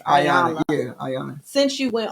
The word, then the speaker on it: Iyanla: Once somebody did ask this question, since Iyanla, how you pronounce it? It's Iyanla.